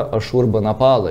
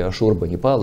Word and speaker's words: Ашурбанипал: Библиотека, обнаруженная, фрагменты, конечно, остатки библиотеки на раскопках города Ниневия, это Ассирия, библиотека царя Ашурбанапала, или Ашурбанипала, и так его произносят имя, 7 век до Рождества Христова.